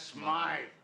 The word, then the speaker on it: Smythe: Smith is closing up his shop. That's Smythe.